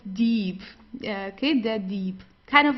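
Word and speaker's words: Dieb: Uh also the B it's not pronounced very strong. So it's not deep or so. It's deep. Sounds more like a P at the end.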